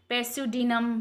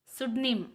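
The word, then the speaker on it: pseudonym: Next अगर हम इस वर्ड को कोई भी पढ़ेगा तो क्या पढ़ेगा, पैस्यूडिनम, पैस्यूडिनम, राइट, लेकिन इसका प्रोनाउंसिएशन ये नहीं होता है, इसका प्रोनाउंसिएशन है सुडिम, सुडनिम, सुडनिम।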